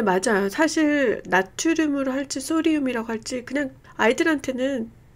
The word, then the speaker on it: sodium: 나트륨 아니에요. It's sodium. 누가 나트륨이라고, 미국에서 절대 이게 NA로 표기가 되긴 하는데, 사실은 읽기에는 소디움이라고 읽는 게 맞게요.